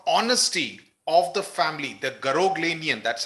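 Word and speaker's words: Garoghlanian: the reputation for honesty of the family the ganian that's how it is pronounced I checked it on YouTube right now ganian ganian tribe is famous for its honesty and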